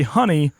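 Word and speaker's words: Hannay: My surname is pronounced like you would say honey, but spelt HAN-NAY.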